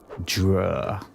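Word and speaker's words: Dreugh: It's like d r e u g h dur, which was some kind of half man, half octopus demon.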